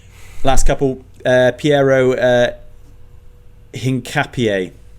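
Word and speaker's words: Hincapié: Um, last couple uh Pierro uh Hinapier is how it's pronounced I think to Arsenal.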